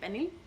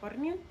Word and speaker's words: pernil: fun, which I made pernil. Other Puerto Ricans call it pernil because there's an R in the word, but my family doesn't pronounce the R because apparently we're bad Spanish speakers.